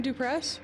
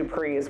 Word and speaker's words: Dupress: Martin Dupress, right? No, that's correct. Oh, okay. I've been calling it something else. Oh, okay. I think I've been calling it the Duprees, which is incorrect.